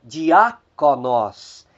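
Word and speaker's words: διάκονος: E por fim nós temos mais 3 palavras cujo acento está recaindo na antepenúltima sílaba. Nós temos a palavra diáconos, diáconos, diácono. Nós temos a palavra mysterion, mistério. E nós temos aí a palavra Kyrios, Kyrios, Senhor.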